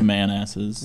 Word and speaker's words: Manassas: Pronounced Manasses.